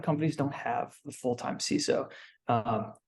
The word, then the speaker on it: CISO: don't have the full-time CSO um I think ceso is the correct pronunciation by the way we could argue